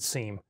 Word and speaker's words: SIEM: The security information and event management system or SIEM. Some people pronounce it “seam”, you can choose to pronounce it however you like.